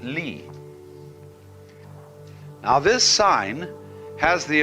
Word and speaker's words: li: universe which is this they pronounce it Lee now this sign has